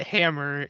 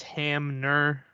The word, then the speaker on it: Hamner: name wrong last week it's not Hammer it's Hamner with an N instead of an M I don't know